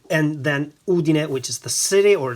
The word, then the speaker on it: Udine: a couple of times already the way to pronounce the brand is Solari and then Udin which is the city or the town where